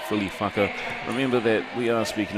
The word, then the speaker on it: whaka: Remember that we are speaking in Māori here, so when you have WHA, that is actually in the indigenous language of New Zealand, which is Te Reo Māori, is pronounced as a wha, and then a KA is a ka. So it's really a whaka, but it's WHAKA spelled,